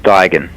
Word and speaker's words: Duigan: it was 10 out of 10 and James Duggan oh okay well James you are probably the